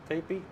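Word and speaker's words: Tepi: The vowels in the name are pronounced as in the English word tape or P. Tepe.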